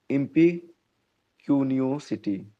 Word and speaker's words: impecuniosity: Next word है इम्पिक्यूनियोसिटी। इम्पिक्यूनियोसिटी, ठीक है। प्रोनाउंसिएशन देखिएगा, इम्पी, है ना, IMPE, क्यूनियो, CUNIOSITY, है ना, इम्पिक्यूनियोसिटी।